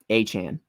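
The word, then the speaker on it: Achane: my goodness said a like three times oh aan okay was like I had to Google the pronunciation because I was like I have been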